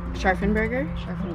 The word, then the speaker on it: Scharfenberger: How do you pronounce the name? Scharfenberger.